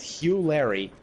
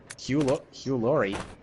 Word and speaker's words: Hugh Laurie: certainly did not expect Hugh Larry, the guy from House, playing as Jasper. Hugh Laurie? Yeah, that's how you pronounce his name. Oh, I thought it was Hugh Larry.